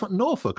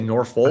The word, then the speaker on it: Norfolk: Nor folk. I think you would say Norfolk or or Yeah, like folk music.